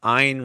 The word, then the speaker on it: Ein: Maybe I can rewrite another way that you can remember it is Ein rhymes with mine.